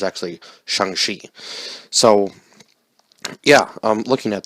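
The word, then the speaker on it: Shang-Chi: um because I would have totally butchered the pronunciation because I thought it was Shang Chi but it's actually shangshi so yeah I'm looking at that you wouldn't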